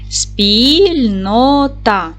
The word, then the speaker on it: спільнота: що ж Давайте перевіримо поділимо слово спільнота на склади спільнота наголос па на другий склад с твердий приголосний п